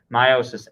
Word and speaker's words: meiosis: not mitosis and this is how that is pronounced meiosis m-e-i-o-s-i-s meiosis our objective for today hopefully it